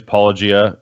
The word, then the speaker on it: Paulogia: So, as we mentioned, my name is Paulogia. My channel's name is spelled Paulogia, but it's a play on the Greek word apologia, which is like the Christian defense of the faith.